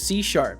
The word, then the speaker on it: C#: to access the API is that pronounced CP like in music or cound like C hashtag it is CP yep C Shar quote